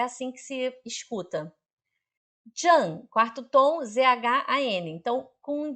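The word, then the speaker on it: 站: Zhang representa estação, parada, paragem.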